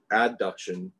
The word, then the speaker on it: adduction: they were taken away adduction is bringing them together adduction add a d a